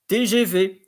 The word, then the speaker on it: TGV: Then there is the TGV. So here in French, when it comes to word abbreviations that are in French, you pronounce them as the letters in French. T, G, V, which means train à